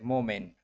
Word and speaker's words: mu'min: Is a mukmin. This and is I call this him is you can say mu'min, not a muk, not K term, K pronunciation.